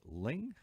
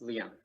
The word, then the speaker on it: Liang: and do I say Ling? Yes, Liang.